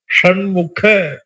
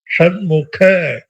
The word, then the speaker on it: ஷண்முக: சண்முகநாதா தான் சொல்றோமே தவிர சண்முக அப்படின்னு சொல்ற ரொம்ப கம்மி சண்முக கிடையாது சண்முக கிடையாது ஷண்முக அதுக்க இரண்டாவது க சமஸ்கிருதத்துல அப்ப இந்த சண்முக அப்படின்னு